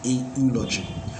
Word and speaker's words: eulogy: Of course, we still pronounce it as eu, but the phonetics is Jew, and Jew is consonant in sound, so you say a eulogy.